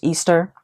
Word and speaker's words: Ishtar: Also, if you know the mythology behind Lilith/Ishtar, which is actually pronounced Easter.